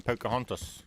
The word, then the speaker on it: Pocahontas: Cuz I can tell you now, the correct way to say it is Pocahontas. If you say it any other way, it's you that's got the accent.